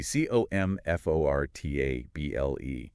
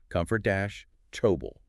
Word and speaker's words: comfortable: In normal everyday speech, that word goes through something called a syllable reduction or sometimes vowel reduction. Basically, syllables that aren't stressed, especially the ones squished in the middle of words, they tend to get well, squeezed, reduced, squeezed. I like that. Yeah. So, comfortable kind of collapses down into something more like comfortable.